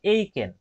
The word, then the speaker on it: Aitken: এই বাড়ানোর যে প্রক্রিয়া, যে প্রসেস, এটাকে বলা হয় হচ্ছে, এটার উচ্চারণ কিন্তু অন্যরকম, এটার উচ্চারণ হবে এইকেন, AITKEN, এইকেন এক্সেলারেশন।